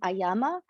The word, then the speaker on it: ayama: So prana, as we've said, life, breath, vital force, and ayama, there is a long A there, is a control, but also a kind of a very rigorous, specific control.